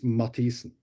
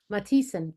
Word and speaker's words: Mathisen: Marius Yes, Mathisen. Did I say that right? that's close enough. No, I If usually you say it if you're going to do the real pronunciation correctly, it's Mathisen. Mathisen.